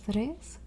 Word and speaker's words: tres: two okay we have tres notice there's no h it's not fres it's just Tres and it's spelled that way